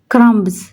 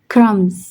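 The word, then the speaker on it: crumbs: क्रमब्स क्रमब्स गलत है। क्रम्स thumb तो ये इसको कहते हैं साइलेंट।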